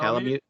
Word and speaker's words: Palamute: Am I pronouncing that correct? That's right. Correct. Yeah, Palamute.